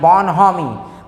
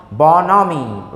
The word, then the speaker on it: bonhomie: लिखा क्या गया, BONHOMIE, बोनहोमी, बट the correct pronunciation of this word is बोनोमी, बोनोमी, right.